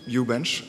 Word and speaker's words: uHbench: name why you bench I pronounce it u-bench that is the well that's how you can read it how to pronounce it it mimics a cryptic Scandinavian names and you know what